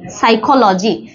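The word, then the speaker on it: psychology: হচ্ছে খ তারপরে হচ্ছে লো তারপরে হচ্ছে জি সাইকোলজি সাইকোলজি মানে হচ্ছে মনোবিদ্যা সাইকোলজি এখানে যে এস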